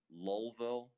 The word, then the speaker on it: Louisville: don't say it lou now you're saying different things louisville lovell lolville now you messed me up now you're totally messing me up yeah see someone else there from pennsylvania and she says that's how they say it spell lou evil louisville all right the point